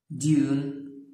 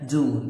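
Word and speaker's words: dune: سي معناها البحر، ديون هنا يا اما ديون يا اما دون، الاثنين صح.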